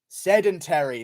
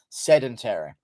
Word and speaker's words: sedentary: the problem with society sedentary that's what it is it's supposed to be said differently that's what was wrong about it i was saying it correctly but it's actually sedentary true i knew there